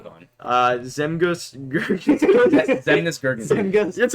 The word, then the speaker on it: Zemgus: Zemgus.